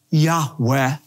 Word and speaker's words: Yahweh: the god of Israel whom Semitic scholars believe is pronounced a breathy reverent Yahweh the Lord kills she